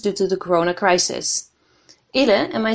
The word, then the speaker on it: Ile: Ile, am I saying that right?